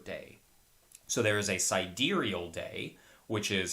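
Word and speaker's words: sidereal: first one is siderial it's spelled out like side real s i d e re e a l i always heard it as pronounced as siderial and then there's also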